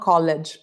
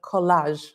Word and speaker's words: collage: How do you say? Not college, but collage.